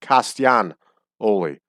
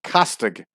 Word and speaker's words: Castagnoli: And Italians would properly pronounce that Claudio Castagnoli. Castagnoli. Castian. It would become, the G would become a W sound. Castianoli. We lazy in American English would call it Castagnoli. And I've heard them on the television pronounce it Castig, pronouncing the G Noli, which I think is improper.